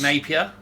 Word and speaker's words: Napier: guy Jack gets just Napier rhymes with rape here okay i'll be doing